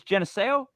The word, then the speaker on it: Geneseo: my God that's good I don't want to mispronounce it because I I sound like an idiot what is it it's Geneseo yes I got the treasury right I get